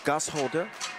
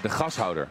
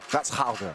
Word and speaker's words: Gashouder: This area, this is like, how do you pronounce it, Bas? Gasholder? De gashouder. Gashouder.